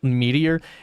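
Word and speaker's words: Meteora: If you guys ever look it up, look up look up Meteor. M E T E O R A Mera is what it's spelled.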